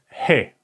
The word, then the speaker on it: He: pretty easy it is called hey hey okay hey like when you say hi okay hi the sound or